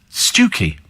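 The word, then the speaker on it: Stiffkey: hayborough and the other is spelled stiffy but pronounced stuki is it it's I mean I just I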